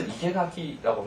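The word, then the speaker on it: 生垣: 그래서 이케가키라고 하는 말은 생나무 울타리 이런 말이고요.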